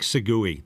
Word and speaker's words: segue: It's almost like Segui, just so you know. And it's a radio thing. A segue, and this is an interesting point.